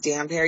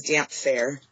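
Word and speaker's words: Damphair: Number one, and again, God rest Roydo trees, but you know how he says damp hair, he says damp fair. He pronounces it like PH.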